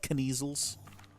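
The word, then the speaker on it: Kneazles: howin for the measles I think I find it's pronounced kniesels what did you find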